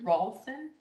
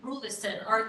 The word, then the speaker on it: Rulison: And I'm sorry, you said Ralston? Rulson, R-U-L-S-O-N, no, R-U-L-L-I-S-O-N. Rulison, That's spelled R-U-L-L-I-S-O-N.